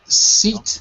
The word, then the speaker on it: seat: So seat is the same as green sheep.